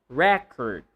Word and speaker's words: record: Record, not record. If you're talking about the noun, record.